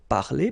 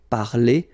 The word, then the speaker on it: parler: So I mean, this combination of two letters at the end of the words normally gives the sound e. Okay, parler, and then past participle, participe passé, parler.